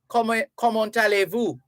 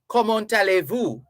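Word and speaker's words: comment allez-vous: ask you common tales common tale but because a vowel follows the t you run it on a a l l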